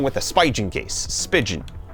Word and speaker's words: Spigen: Spigen. Like pigeon, I've never known how to pronounce it.